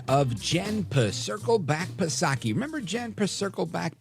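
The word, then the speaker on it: Psaki: Jen per Circle back pasaki remember Jan per Circle back pasaki silent P of course and I I you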